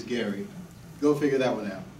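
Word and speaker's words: Gerry: please my name is Gary and it's spelled a little differently it is g-e-r-r-y but it is Gary go figure that one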